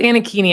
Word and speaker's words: Anakini: Is it Anakini or Chini? It's Anakini. It rhymes with zucchini.